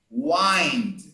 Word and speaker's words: wind: But there is a verb that is not the same. In the verb, you say wind.